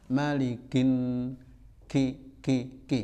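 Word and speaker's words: مَلِكِ: Malikin nas, kafnya ada anginnya sedikit, maliki, ki. Jangan malikin ya. Tapi jangan pula malikin. Nah, enggak betul ya. Ki. Malikin ki ya.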